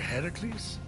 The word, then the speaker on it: Heracles: doing there that thing with your voice the heracles yeah that that is how it's supposed to be pronounced seems like a lot of work but